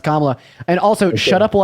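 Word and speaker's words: Kamala: have a real job yeah but your lovely camela Harris wants to give us pronounced kamla and also shut up will I thank Autumn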